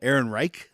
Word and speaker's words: Ehrenreich: Yeah, Ehrenreich. Aaron Reich. Change Rock that on. last name, dude. It's actually pronounced Alan Reich.